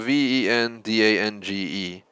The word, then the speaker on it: Vendange: It's spelled V-E-N-D-A-N-G-E, but it's pronounced Vendange.